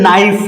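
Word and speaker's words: knife: यहां पे देखिए नाइफ है। ये के हमारा साइलेंट हो जाएगा।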